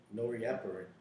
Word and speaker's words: norepinephrine: In pronunciation. Norepinephrine.